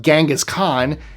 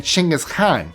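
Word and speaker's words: Genghis Khan: He was Mongolian so he would not have called himself Gangghis Khan. His name would have been Chingis Khan. That's how it's pronounced in Mongolian.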